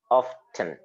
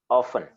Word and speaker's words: often: salman you see in real sense i deliberately pronounced it often so that you know that there is a t there but in reality the tea is silent so normally you will say often awesome you will say often it's just like